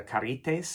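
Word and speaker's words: Charites: And the three graces were called the charities, or the carites in the Greek pronunciation.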